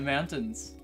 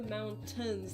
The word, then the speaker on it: mountains: No, not the mountains, the mountains. You don't say the T. Mountains. How you speak like a. That's how you speak like you're someone from Utah. You don't pronounce the T in mountains or in pitcher.